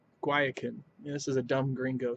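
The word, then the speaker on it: Guayacán: how to pronounce it I was pronouncing it Gaia caen but it's more of a guayacan like a guacamole guayacan this is a dumb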